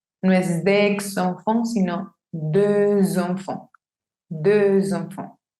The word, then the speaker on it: deux enfants: Si yo tengo la palabra de sola, esa X no se pronuncia. No digo deux, sino de. Pero como esta palabra está encontrándose con enfant, que es una palabra que empieza con vocal, tengo que hacer la liaison.